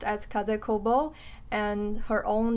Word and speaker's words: Kaze Kobo: is like her designer name sudo name and pronounced as kaze kobo and her own name the japanese designer her